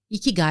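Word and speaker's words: 生き甲斐: Eeky Guy is a Japanese word that means reason for being. Okay. And how that came about and how I named my business Eeky Guy Awakening was I when I had um realized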